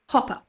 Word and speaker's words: Hopper: But Dr. Hooper. Hopper. Hooper. How do you spell How do you say Hooper? And how do you spell Hopper? H O double P Hopper Hopper Hopper. Dr. Hopper. Yes, that would be right.